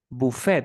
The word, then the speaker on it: buffet: bouquet then we have for example um Buffet is another French word so you say buffet